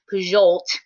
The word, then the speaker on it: Pujol: So the president of TLC, Armand Pujol, I found out that's how you say his name recently, Pujol, like a jolt of electricity.